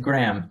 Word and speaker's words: Graeme: Es como, es Graham, como Instagram, pero Graham nomás.